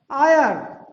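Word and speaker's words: heir: ये क्या लिखा हुआ है, गोस्ट, कहीं पर एच का उच्चारण नहीं है। ये क्या लिखा है, आयर, आयर, इट इज प्रोनाउंस्ड आयर, आप देखेंगे कहीं भी एच का उच्चारण नहीं है।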